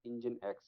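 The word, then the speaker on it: nginx: as inine X all right this is be pronounced as engine X right what is this engine xine X is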